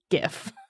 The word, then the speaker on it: GIF: or gif depending on it is gif it's a gif it's a hard g the guy who invented it has said that so also it stands